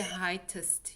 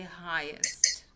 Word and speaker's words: highest: You You write it like that, but you pronounce it highest. Right. You don't say heightest, you say highest.